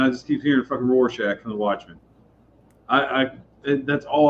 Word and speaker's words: Rorschach: I'm sorry, I don't know how to pronounce It's Rorschach.